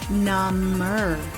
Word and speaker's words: number: number what's your favorite number eight seven what's your favorite number with a b and the adjective is number the b is silent number my foot feels